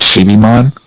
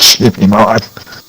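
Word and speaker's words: Chibimon: i'm very upset because it's literally pronounced sheepy mod all right i'm gonna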